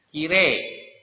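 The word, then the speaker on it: きれい: Jadi kalau ini kosakata ini walaupun ditulisnya kirei, tetapi dibacanya kire.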